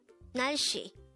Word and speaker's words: 날씨: 날씨, 날씨, 날씨. This is pronounced as a two-syllable word. The first syllable is 날, second syllable is 씨.